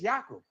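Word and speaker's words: Yaakov: So So Jacob Jacob's real name is Yakob. That's how they that's how they pronounce his name.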